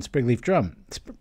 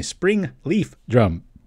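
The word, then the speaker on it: Springleaf Drum: list of this ran sprig leaf drum excuse me spring leaf drum yeah that's how you say it so what i did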